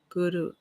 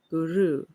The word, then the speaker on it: guru: The first syllable of the word guru is pronounced as in the word good. Guru. Okay. The second syllable ru has a sound that rhymes with the word true. Guru.